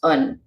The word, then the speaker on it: an: But in Irish, only the definite article gets a separate word and is pronounced un. So un is the word the in Irish, and it's used because